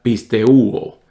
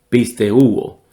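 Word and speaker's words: πιστεύω: Y el verbo creer se diría pisteuo, pisteuo. Entonces, pistis y pisteuo se puede notar evidentemente que vienen de la misma raíz.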